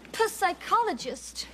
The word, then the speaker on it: psychologist: But I'm just so worried about this psychologist. We talked to Don and Sally. It's just a man. And the P is silent.